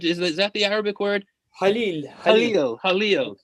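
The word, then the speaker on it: خليل: I know, please help me, Hakan, with the pronunciation, al-Khalil, which is that the Arabic word? Halil.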